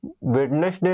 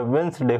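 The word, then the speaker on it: Wednesday: तो जैसे कि आप मान लो वेडनेसडे नहीं होता है, वेंसडे होता है।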